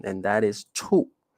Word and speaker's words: 处: So now I'm going to introduce you another pronunciation, and that is 处，四声 the fourth tone.